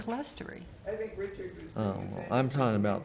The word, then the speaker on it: clerestory: and I thought it was CLERSTORY.